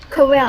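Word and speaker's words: Corel: Fact, it's actually pronounced Coral.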